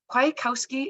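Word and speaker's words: Kwiatkowski: you to Marvin Marvin quietkowski is that how I pronounce your last name yes perfect I'm asking because I'm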